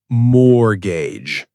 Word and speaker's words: mortgage: That's the mortgage. Look at you. Silent T and everything.